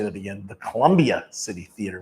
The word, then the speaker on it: Colombia: world at the historic Colombia City Theater let me say that again the Colombia City Theater let me make sure I pronounced the A on the end of Colombia uh 4916 reer Avenue South the home of reineer Avenue radio.